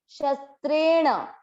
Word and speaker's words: शस्त्रेण: श और श के बाद में आधा स, यहाँ आप ध्यान दें ये है श अलग शलजम वाला, और ये जो आधा स है ये है सपेरा वाला, शस, शस, दोनों अलग अलग समझ आए। त्रेण, शस्त्रेण, द्रि, द है, द